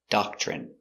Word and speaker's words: doctrine: D a da c- dock chock ch remember when you have tr together it makes the chicken sound ch.